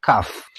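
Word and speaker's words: كاف: kiu adalah nomor ke-22 namanya Kaf bunyinya kayak kop tapi dia lebih ke kayak ka dalam bahasa Indonesia ka ki ku kalau Kof Koo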